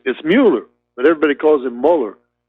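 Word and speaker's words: Mueller: mauler Muir no again nobody knows how to pronounce his name moot it's Muller but everybody calls him Muller but uh when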